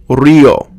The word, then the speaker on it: río: Next, any combination of the vowels I or U with an A, E, or O is pronounced as two syllables when there's an accent mark over either vowel.